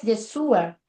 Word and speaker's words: Yeshua: La pronunciación hebrea de Josué es Yeshua, que es también a la pronunciación hebrea del nombre de Jesús.